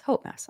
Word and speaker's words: Hope Mess: Hope Mess. I got it right. Rhymes with boat mess.